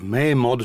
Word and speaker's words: Mamod: design is really good unlike a mamod or a May mod some people pronounce it it does not have